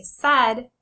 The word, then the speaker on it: said: Say said. In the word said, the AI makes the sound. Said.